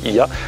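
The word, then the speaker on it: Oia: l'heure, et ici, Ia, ça s'écrit Oya mais ça se dit Ia, ont été construits à flanc de falaise, avec plein de petites maisons qui descendent vers la caldeira.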